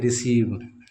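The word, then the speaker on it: receive: किसी वर्ड में अगर इ और आई आए तो हम इसे बड़ी इ के रूप में पढ़ेंगे इस चीज को इतनी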